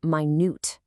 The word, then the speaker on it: minute: And notice the pronunciation on this one. It's minute.